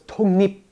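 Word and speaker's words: 독립: So in Korean, you have to combine the sounds together into a smoother transitional sound. So it's tongnip, tongnip. You change that K and that L into a smooth sound.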